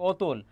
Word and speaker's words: অতুল: যেমন এখানে দেখো অ এর উচ্চারণটা ও হয়ে যাচ্ছে অতুল, অ এর উচ্চারণটা ও হয়ে যাচ্ছে অধীর, তারপর অ এর উচ্চারণ